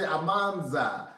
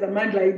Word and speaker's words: Amandla: Some people say Amanza, some people say Amandla, some people say Amanz. It's like a little bit different towards the end. No, many different languages, but Kimatla, Amandla is Amandla.